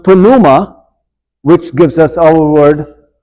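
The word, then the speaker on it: pneuma: familiar with is pronounced Puma which gives us our word pneumonia okay in in in Greek the p is pronounced in English of course it's silent and it has to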